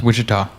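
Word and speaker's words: Ouachita: the heart of the Grand and I cannot pronounce this Ora National Forest oh it's Witchita witch yeah it's like aen sound oh my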